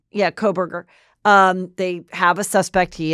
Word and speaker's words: Kohberger: How do you pronounce his name again? Kohberger. Yeah, Kohberger.